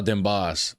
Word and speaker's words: Den Bosch: Den Bosch pronounced. Oh, Den Bosch. Oh, I'm saying it way wrong, ain't I?